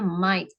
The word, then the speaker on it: might: Jadi might ini G-nya tuh silence. Jadi cara bacanya might.